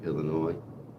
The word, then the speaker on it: Illinois: Illinois, got an S on the end, silent. Illinois. Americans often say Illinois. It's not right.